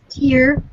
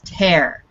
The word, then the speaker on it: tear: tear tear yes so this word can be pronounced two different ways it's spelled the same it's tear or it's tear and it depends on